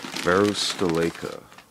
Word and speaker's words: Varusteleka: bag better gear for less let's learn pronunciation varus deleka where's the liquor yeah that makes sense okay